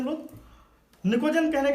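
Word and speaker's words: pnictogen: से निकोजन कहते हैं, निकोजन। एक बार फिर अंग्रेजी थोड़ा सा शर्मिंदा होती हुई यहाँ पर, पी साइलेंट है, निकोजन बोलते हैं इसको, बट पी यहाँ पर साइलेंट है, जैसे चालकोजन का कुछ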